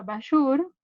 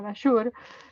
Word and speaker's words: Bajour: Acá en nuestro país hay una autora que es Cecilia Bashur, que se escribe Bajour, ¿no? Con J, Bashur, que la podés rastrear